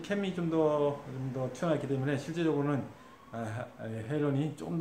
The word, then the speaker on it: Halon: 오늘 소개시켜 드릴 활은, 리뷰할 활은, 매튜의 헤일론 X입니다. 네, 헤일론 X. 한국식 발음으로 하면, 네, 하론이라고 하겠죠? 네, HALON. 예, 영어식 발음은 헤일론입니다.